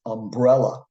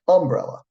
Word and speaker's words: umbrella: Another word like that is umbrella. Sometimes people will say this word like umbrella.